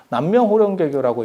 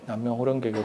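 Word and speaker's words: 南無妙法蓮華経: 있어요 마하반야 바라밀 나무 대방광불화엄경 그리고 나무 묘법연화경 남명 호령 개교하고 있죠 혹시 들어보셨어요 그게 나무 무법 연하 경을 일본 발음으로 했을 때 남면 호령 개교 그든 어 나무 교법 연한 경에 근데 진실한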